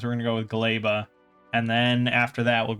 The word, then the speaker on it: Gleba: And yes, apparently it is pronounced Gleba because it's like a Polish word or something.